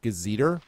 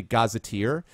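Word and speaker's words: gazetteer: uh I pronounced um I pronounced it gazer like the like the old um kind of like an almanac type of thing g a z e t r it's actually gazeteer so I was on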